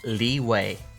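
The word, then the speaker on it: Liyue: wrong way stupid me they all pronounce it leeway but anyway also pymon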